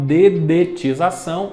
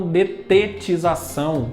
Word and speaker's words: dedetização: como eu tenho diclorodifeniltricloroetano as iniciais falam ddt por isso que eu falo dedetização e não detetização como muita gente fala tão por exemplo eu